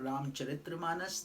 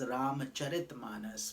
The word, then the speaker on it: Ramcharitmanas: A lot of people call it Ramcharitramanas. That's not proper. The right way to say it is Ramcharitmanas, because it is about the character of Lord Rama and his glories.